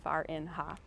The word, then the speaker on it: Farinha: The way you pronounce her name is Farinha.